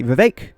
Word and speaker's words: Vivek: and VI Ram Swami VI which rhymes with cake but also with snake think of that what